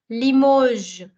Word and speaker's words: Limoges: Another city name that I have selected here is Limoges. Limoges. The S in the end is going to remain silent because it is a consonant. So please don't sound it as Limoges, Limoges.